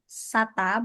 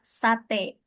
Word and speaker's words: sate: It is not a sata but sate te sate. Like that sate.